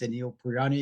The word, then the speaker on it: Anil Paryan: bit about myself um just the perfect pronunciation my name is Anil purani I'm CEO of uh